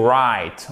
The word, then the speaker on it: write: Vous avez to write. On ne prononce pas le W.